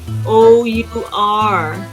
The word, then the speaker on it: our: Terrence Knapp said the word O-U-R. It's not R, it's our.